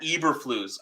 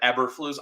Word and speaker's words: Eberflus: Ryan Poles and Matt Eberflus. Everyone says like Eberflus. I say Eberflus. I know the E is silent. It's pronounced with an I.